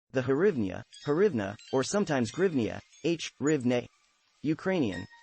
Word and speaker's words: hryvnia: The modern Ukrainian hryvnia is sometimes transliterated as hryvnia, grivna or grivna, due to its Russian language counterpart, grivna, pronounced grivna.